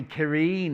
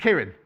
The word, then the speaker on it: Kieran: It's lovely, Kireen in the... I don't know how to say her name. Kireen. Oh, just Kieran. Oh, I thought it was Kireen.